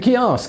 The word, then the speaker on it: Ceasg: Ceasg The “Ceasg” (pronounced “kee-ask”) mermaid from the Scottish Highlands is half woman, and half salmon.